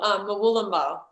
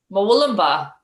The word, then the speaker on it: Murwillumbah: Murwillumbah. Murwillumbah. Yes, Murwillumbah.